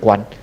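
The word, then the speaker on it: Quán: Chữ này được phát âm là Quan.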